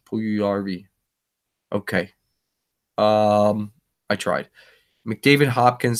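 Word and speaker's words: Puljujärvi: pull you ERV but I'm sure that J is silent pull you long ER v pull you yarby okay I tried McDavid Hopkins that's interesting and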